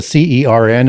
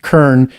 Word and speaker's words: CERN: It's can be pronounced with as a C-E-R-N as in CERN, or it could also be pronounced Kern, K-E-R-N, just as in Hebrew you get Keren.